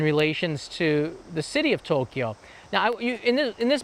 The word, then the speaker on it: Tokyo: is one of them by the way there's two syllables for Tokyo it's Tokyo technically there's the city